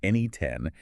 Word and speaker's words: N8N: So N8N, spelled N8N and pronounced NE10, has rapidly emerged as a leading platform for building both traditional automation workflows and these highly advanced agentic AI applications.